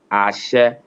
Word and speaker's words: Ashe: Ashe, from Ashe. the beginning, it Yeah. comes down, then go flat.